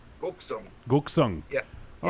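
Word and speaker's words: 곡성: Would you pronounce it Goksung? Goksung.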